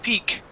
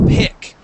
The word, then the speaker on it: pick: pick and him okay she got to the word pick and she said peak all right uh I heard it and she felt herself say it and then backed up and said nope it's pick all right so what